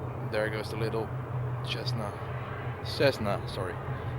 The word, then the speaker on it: Cessna: I always say it wrong I know it's Cessna but uh I always pronounce it wrong but now I know how